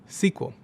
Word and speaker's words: SQL: of them: spreadsheets and structured query language, or SQL, which is often pronounced SQL.